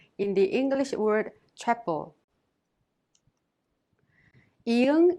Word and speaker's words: 이응: Iung is silent when used as an initial sound such as in a and o. When used as a final consonant, however, it has the ng sound like in the word song.